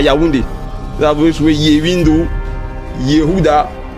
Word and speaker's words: Yaoundé: Ils prononcent là-bas Djaoudé, avec DJ au départ.